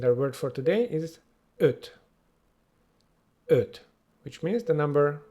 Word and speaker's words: öt: And our word for today is öt.